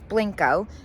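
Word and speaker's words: Blenko: We did question the pronunciation while we were there. We heard it straight from the horse's mouth, so it is Blanco.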